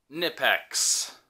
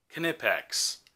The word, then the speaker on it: Knipex: It's a Knipex. Knipex. Yeah, Knipex. That's what it is. I'm a pronouncer.